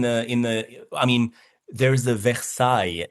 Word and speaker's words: Versailles: Well, I mean, for some words in the in the I mean, there's a versai in Kentucky. Versailles as in Paris, Versailles, but they call it Versailles.